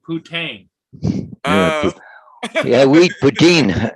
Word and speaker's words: poutine: Well, you got to be careful when you pronounce that, TJ, because the Canadians love to eat poutine.